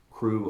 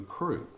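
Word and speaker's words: krewe: the first mystic society we also call them cruz crew of this crew of that crew of hera crew of neptune and crew is spelled k-r-e-w-e it's it means the same thing here's one a cup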